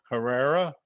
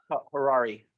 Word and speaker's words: Harari: By the way, we're talking with Mark Herrera. Am I pronouncing it correctly? Harari. Harari. Okay, like a Ferrari.